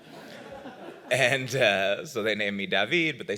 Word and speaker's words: Daveed: It's a very unusual name, Daveed. Can you tell us something about it? Well, in my case, it's Hebrew. It's a Hebrew pronunciation of David.